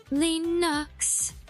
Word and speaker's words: Linux: Linux.